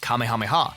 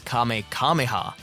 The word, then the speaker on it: Kamehameha: In this episode, Goten fires his first Kamehameha, mispronouncing it as Kame Kameha, and almost blowing away half the arena. Even Trunks knows how to pronounce it correctly.